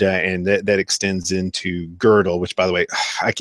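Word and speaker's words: Gödel: pure reason and and that that extends into girdle which by the way I I always call him godell but it's actually girdle and you know I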